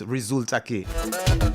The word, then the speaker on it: resulta que: Alright, it's two separate words, resulta que. Alright, the resulta is spelled like if you're spelling result, but it's R-E-S-U-L-T-A, resulta.